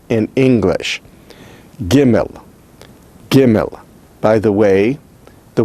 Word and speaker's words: gimel: Without a dogish, it is pronounced as chimel, chimel, chimel. It is a G sound, which is velar, that is, it's pronounced using the velar region of the mouth toward the back of the mouth, but not all the way back to the throat.